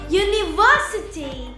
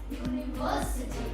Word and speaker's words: university: in ity or ity, we put the stress or place the accent before the syllable. For example, ability, Ability, capacity, capacity, generosity, generosity, sensibility, sensibility, charity, charity, clarity, clarity, trinity, trinity, electricity, electricity, university, university, speciality.